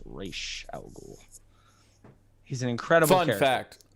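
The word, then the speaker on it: Ra's al Ghul: um rachel ghoul and i say race algol because that's how you say it it is not raz al ghul it's rache al ghul he's an incredible fun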